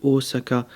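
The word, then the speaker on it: Ōsaka: le haut et l'on pareil pour osaka le hodh osaka se prononce en deux temps mais quand on l'écrit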